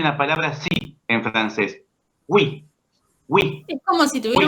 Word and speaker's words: oui: Oui, oui, Es como si tuviera oui.